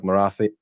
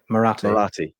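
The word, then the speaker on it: Marathe: the phone to Parag Marathi. I keep getting his name wrong. Is Parag Marath? Marathi. Yeah. It's one of those things you just can never make it stick in my head.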